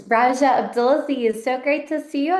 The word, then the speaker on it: Rajia Abdelaziz: It's Raja Abdulazi.